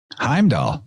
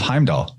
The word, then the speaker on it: Heimdall: And what's the first syllable of Heimdall? Ham.